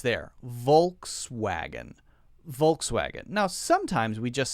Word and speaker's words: Volkswagen: German is something like Volkswagen something like that where the W is pronounced as more like a V sound but Americans just say it as it looks in English spelling which is Volkswagen you know how Americans